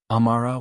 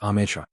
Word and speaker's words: Amra: Said Amara when I clearly stated Amra.